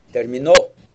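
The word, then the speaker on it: terminó: your p and qes you got to be careful about which syllable you stress hard it's going to make a big difference in Spanish but again remember that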